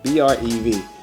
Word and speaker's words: Brev: I put it under the name of Brev, B-R-E-V. I spent my whole career trying to tell people how to say it, Brev. And I guess maybe the name sort of gave hints to what was coming in the future. Brev is the word verb turned backwards.